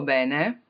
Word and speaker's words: bene: Voglio solo il tuo bene, I only want your wellness, your good, anything good for you. Voglio solo il tuo bene. You really don't want to mispronounce that with P, right?